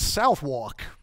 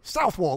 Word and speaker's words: Southwark: stabbed and they're all like hey where is south walk you what where is south walk and of course we with the americans it's called southwark but south wall we spell it south walk and then they